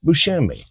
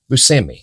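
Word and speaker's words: Buscemi: Steve BMI which actually his parents are from Italy so the last name is actually Bushi but anyway he never liked to pronounce it that way he always said Bui so you may know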